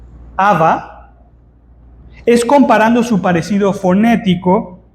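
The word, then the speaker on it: חוה: dado a la mujer que en hebreo se pronuncia Aba es comparando su parecido fonético con el término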